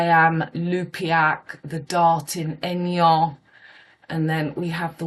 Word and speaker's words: Aignan: I live in Aignan, which is pronounced AIG. We say N, but that is, in English you would say egg.